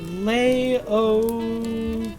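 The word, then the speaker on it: Laocoön: Wikipedia says it is pronounced Laocoon.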